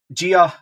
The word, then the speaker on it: Djiga: So Djiga, I think is how I'll pronounce it at the moment until somebody tells me otherwise. I'd seen that online that he's pronounced his name Djiga, so we'll go for that.